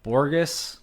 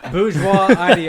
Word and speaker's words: bourgeois: of a tainted trend by borges bourgeois is that how you say it bourgeois god damn it bourgeois that's a [ __